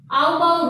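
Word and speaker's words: Aufbau: आउटबाउ rule, exact pronunciation इसका ये है। ठीक है, हिंदी में इसको बोलते हैं ऑफ-बोर रूल।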